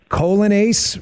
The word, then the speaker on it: Coglianese: It is Vince Colonace. Well, Okagani, if you need it spelled out phonetically, C O G L I A N E S E.